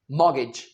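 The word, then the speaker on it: mortgage: इंडाइट Indic नहीं कहना क्या कहना है इंडाइट और इसे मगेज नहीं कहना मोगेज मोगेज चलिए आगे आगे चलते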